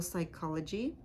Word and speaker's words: psychology: k for example chronic PS sounds like s for example psychology PN sounds like n